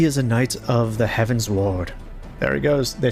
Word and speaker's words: Heavensward: it's funny because like i know it's not how it's spelled but i i thought it was heaven sword like a sword of heaven it's heaven's word like